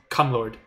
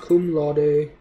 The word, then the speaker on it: cum laude: I think 3.25 to 3.5 was just Cum Lord, I think. And yes, I do know it's pronounced cum laude. I just like the way cum lord sounds.